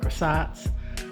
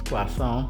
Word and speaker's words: croissant: pancakes um quason um As Americans call it croissants um correct pron correct pronunciation is quason but anyway um I'm